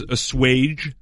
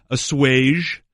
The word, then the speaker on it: assuage: Yeah, according to Merriam-Webster, the 3 acceptable pronunciations of that word. Number 1, and this is the most common, is assuage with a hard J. Yeah. Okay. Number 2, assuage. Assuage. Ooh, with a soft G almost. Okay. And number 3, assuage.